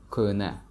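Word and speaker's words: кӯҳна: The word kohna, which means old, usually people don't pronounce he in the middle. So it sounds like kohna without he.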